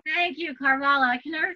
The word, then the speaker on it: Carvalho: Carvalho. Thank you, Carvalho.